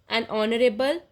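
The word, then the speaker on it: honorable: dash और एन ऑनरेबल, an honest, ये सारे के सारे जो हैं यहाँ पे साउंड जो है अ की आ रही है, ना कि एच की, मतलब अ जो है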